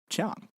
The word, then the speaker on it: Chiang Kai-shek: So the name Chiang Kai-shek is actually, how to describe this? This is actually Cantonese. That's a southern Chinese dialect. Nowadays, most of us that study Chinese, we study Mandarin Chinese, and we would pronounce his name Jiang.